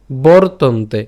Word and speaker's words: বর্তন্তে: গুণকর্ম বিভাগয় গুণাগুণেষু, গুণাগুণেষু বর্তন্তে। এখানে খেয়াল করি, রেফটাকে যদি উচ্চারণ করি বর, বাকি অংশ থাকে তন, বাকিটা থাকবে তে, তাহলে বরতন্তে।